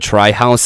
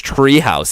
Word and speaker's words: Tri_House: I said Tri-House the first time, and they're like, "Yo, you're saying it wrong, man. It's Treehouse. It's tree. Yeah, but it's Tri. It's TRI, dude."